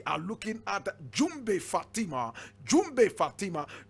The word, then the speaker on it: Djoumbé: class today we are looking at jumbi Fatima jumbay Fatima jumbay is spelled DJ o g m b e and